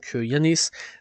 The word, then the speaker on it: YVNNIS: N'hésitez pas donc à aller découvrir, ça s'écrit YVNNIS pour Yanis.